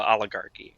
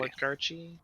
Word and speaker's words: oligarchy: all of the the oligarchy is it a soft g oh my god yeah it's a hardship oligarchy oligarchy it's a hard g whenever it's in front